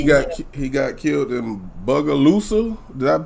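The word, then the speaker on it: Bogalusa: wow no he got he got killed in bugalusa did that pronounce that right out you know what i was laughing when you said it at first but yeah it's it's buggaloosa louisiana yeah he um i'll show you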